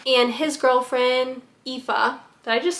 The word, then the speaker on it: Aoife: how to say her name, and his girlfriend, Aoife. Did I just say that correctly? I literally just looked at the pronunciation. Yes, Aoife.